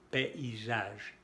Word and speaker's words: paysage: Por ejemplo, la A y la griega se separan aquí, forman dos sílabas, PI. Y la A se pronuncia como el sonido E, en este caso. PI, paysage, el país, el paisaje.